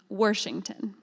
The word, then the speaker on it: Washington: Rob recently reminded me she always pronounced it with an r worington and finally when anyone